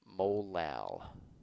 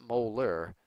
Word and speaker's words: molal: just call it molal pronounced molal not molar that was marity but it's pronounced molal now because colligative properties